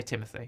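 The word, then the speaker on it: Timothée: mentioned stellen yeah yeah Timothy Shalom you know it's pronounced timot apparently but you can also say Timothy I that's fine I've never heard it pronounce Timothy oh apparently it's French okay so yeah uh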